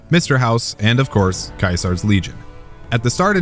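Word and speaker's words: Caesar: As a self-proclaimed expert on Kaisar's Legion, and yes, I mean Kaisar, pronounced with a K in the proper Latin, I wanted to throw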